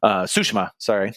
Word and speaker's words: Tsushima: Tsushima, sorry, to pronounce it correctly, or at least how they say it in the game.